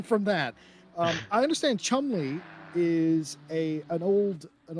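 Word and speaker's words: Cholmondeley: pronounced it is pronounced chumley i know i asked you that six months ago but i'm asking you again it is chumly it is chumly yes everything is silent okay you saved me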